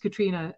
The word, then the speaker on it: Catriona: my name is Catriona, as Hendrik said. It's pronounced Catriona, spelt with an O in it, and that's because I'm Scottish. It's Scottish for Catherine.